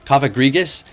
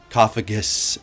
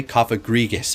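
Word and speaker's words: Cofagrigus: Coffagus is not the correct way. Coffagrigus.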